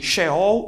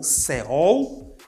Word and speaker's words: Sheol: Quanto à pronúncia, uns chamam de Sheol ou Seol e Hades ou Hades.